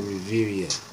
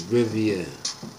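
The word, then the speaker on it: Rivera: Panthers coach Ron Ravinia I'm sorry I said Riveria it might be pronounced that way but it's Rivia to ax NFL about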